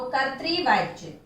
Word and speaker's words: कर्तृवाच्य: कर्तृवाच्य, इसका उच्चारण देखिए, का ऊपर ये रेफ वाला र है जो कि आधा उच्चारित होगा, और ता में री की मात्रा लगी हुई है, त्रि, तो कर्तृवाच्य।